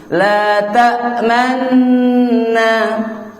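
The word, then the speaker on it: لَا تَأْمَنَّا: Jadi gini Bu, di kalimat gini, la ta'man, ketika ini kan ditekan nih karena ada tasdid. La ta'man ditekan, sambil ketika nekan itu ada monyong monyong ya. Ya, cenderung condong mau ke domah. La ta'manna, gak ada perubahan cara bacanya, cuma perubahan di bibir kita. Ya, makanya kudu praktik teh eta gitu. La ta'man, jadi tekan man.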